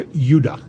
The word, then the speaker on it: Judah: were called Benjamin and Judah more properly pronounced Ed UDA because we didn't get the harder sound to the J until about 200 years ago so this is what